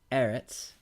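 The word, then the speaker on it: ארץ: affecting the accent so the noun is Eretz with the accent in the first syllable the new form is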